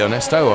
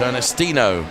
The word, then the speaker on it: Ernestino: Sorry, Ernesto, I've been calling your name wrong. It's Ernestino.